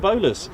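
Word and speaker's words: Bolars: But it is spelt differently. It's spelt B-O-L-A-R-S. And they're called the bowlers, with the bowler hats.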